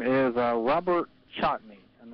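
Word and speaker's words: Chatigny: question uh he um his name is Robert chatney and it's spelled likey c h a t i gny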